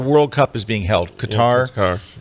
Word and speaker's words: Qatar: Cup is being held Qatar it's I guess it's pronounced cutter but it's q-a-t-a-r and